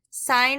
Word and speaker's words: sine: Sine of theta is typically abbreviated just as SIN. It is pronounced sine, not sin. Do not say sin. It is a sin to say sin. You say sine.